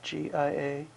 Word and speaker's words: Giacomini: That's Giacomini. The pronunciation for Mr. Giacomini, and I do know Mr.